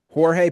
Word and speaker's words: Jorge: Right, because I was going to say the way it's spelled, I thought it was Jorge. And hearing you just say George blew my mind. Yeah, we say conversationally, we say George. Okay. So Jorge Posada.